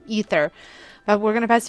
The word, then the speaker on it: aether: Keep saying aether, but I know the game pronounces it ether.